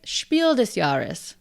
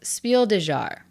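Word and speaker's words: Spiel des Jahres: game in German to be considered for the shiel desaris Yes you heard me right shiel yarus my pronunciation of shielas in my last video got a lot of comments I pronounced shielas as Spiel dear I have looked up how to pronounce shiel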